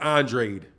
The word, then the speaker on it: Andrade: watch this demetrius andre i gotta stop saying his name wrong he likes it he's pronounced it andrade 31-0 with 19 ko's